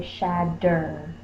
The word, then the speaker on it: shatter: But because we say it so fast, we don't say shatter. A lot of times we say shadder, so we change it to the D sound.